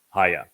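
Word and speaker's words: היה: It is he, yod, he, and it is pronounced haya.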